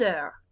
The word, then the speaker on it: heures: Because even though there's a letter H, they don't pronounce the H in French. It is a non-aspirated H. It doesn't go huh. It's just nothing, really.